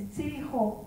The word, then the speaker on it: tzijo: Chico is, the Teo word for chicos is tzijo, but when the Spanish ear first heard it, they couldn't pronounce the tzijo, so they called it chico, and globally, everybody knows